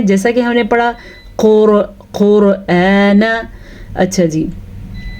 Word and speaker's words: قرآن: پڑھا قرآن۔ اچھا جی، حمزہ کو آرام سے نرمی کے ساتھ پڑھنا ہے، لیکن لمبا بھی کر کے پڑھنا ہے، کیونکہ یہ حمزہ ہے۔ اکثر لوگ اس کو عین بنا دیتے ہیں، یعنی کہ پڑھتے ہیں قرآن، غلط، یہ ہے قرآن، نون کو لمبا نہیں کرنا۔ لِذِّکْرِ، اچھا زال کو نرمی